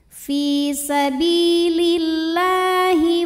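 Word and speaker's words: في سبيل الله: bak panjang 2 harokat fisabilillah lam pada lafal Allah dibunyikan secara taktik sebab huruf sebelumnya berbaris kasroh maka lam ini bacanya tipis lah fisabilillah kemudian Alif lamnya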